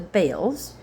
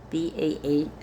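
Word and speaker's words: Baals: Under his direction, the altars of the bales, B A L S, were torn down. Al to me, that's ba, but bales is the common pronunciation. Both are actually correct depending on what language you're speaking.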